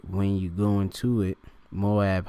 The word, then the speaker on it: Moab: All right, when you go into it, Moab, how you of course pronounce it in the Hebrew, all right, because it's Ma'awab, all right, Mawab, all right, Mawab, all